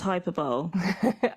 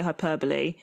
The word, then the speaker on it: hyperbole: Do I have to learn how to pronounce Hyperbowl? I saw that on Twitter. based on that tweet. And I honestly am furious because I've heard people say hyperbole and I just didn't register it as the same word.